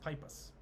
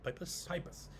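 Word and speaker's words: Peipus: get the name right I think it's pronounced pipas like pipus p-e-i-p-u-s now this is Northern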